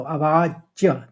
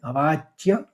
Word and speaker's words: अवाच्य: पहले चरण को देखिए अवाच्य व के ऊपर आघात है तो अवाच्य दो च निकलेंगे अवाच्य फिर वादांश च क्योंकि